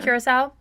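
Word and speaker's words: Curaçao: Well, all this is vodka, blue, what is it, Curacao? Is that how you say it? Yeah. Curacao and Sprite.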